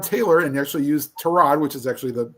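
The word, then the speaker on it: Tyrod: and said, uh, yeah, don't be shocked if Trod Taylor, and he actually used Terrod, which is actually the correct pronunciation of his name.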